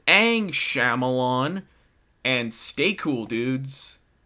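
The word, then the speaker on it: Aang: guys for watching comment like and subscribe it's pronounced ang shyamalan and stay cool dude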